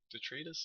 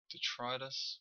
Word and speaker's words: detritus: good one detrus fiend detrus is that right pronunciation detritus my wife corrected me she always corrects